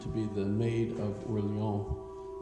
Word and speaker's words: Orléans: look around in Orléans, which is the way the French, I guess, pronounce Orleans, as we pronounce it New Orleans, right? Well, the French obviously don't say all their consonants, so you have Orléans.